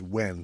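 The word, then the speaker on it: Nguyen: Ngen is pronounced when like we or wh yet another security guard.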